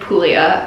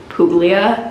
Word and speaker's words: Puglia: I think I've been saying like Puglia with a G. There is a G in the word. However, I think it might be silent. So now I say Puglia.